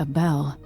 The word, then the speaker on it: Abele: Meeting with Duke Luca Abele, potentially? I don't know Duke Luca Abel, but Corvo served under Luca's father and said Theodanes was a good man. Okay, apparently that name is pronounced Abel.